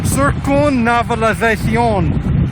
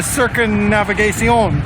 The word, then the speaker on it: Circunvalación: But Rodrigo told me it is actually the circunvalación, if I can pronounce that.